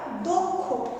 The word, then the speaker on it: দক্ষ: দয়ের পরে অ আছে, অর্থাৎ কয় মূর্ধন্যস্বর আগে যে অটা সেটা অধ্বনি ও ধ্বনিতে পরিণত হয়, অর্থাৎ দয়ে ওকার পরে মূর্ধন্যস্বর দক্ষ। এইভাবে উচ্চারণটা হয়, উচ্চারণটা হয় দক্ষ এইভাবে।